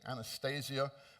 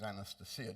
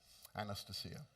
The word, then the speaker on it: Anastasia: I know most people say Anastasia. My wife, who is Russian, tells me the correct pronunciation is Anastasia.